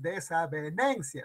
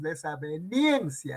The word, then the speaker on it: desavenencia: La I, pues, es desavenencia, no es desaveniencia, ¿ya ves?